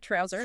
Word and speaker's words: Trouz: And yes, the creator notes specify it is pronounced exactly like trouser.